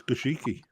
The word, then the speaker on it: Goshiki: It's Goshiki. A or B? Goshiki, but people always say Goshiki. But we call it Goshki in the UK. What do the Japanese call it? Do they call it Goshki or Goshiki?